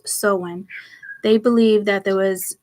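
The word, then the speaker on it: Samhain: time of the happiest night pronounced soen they belied that there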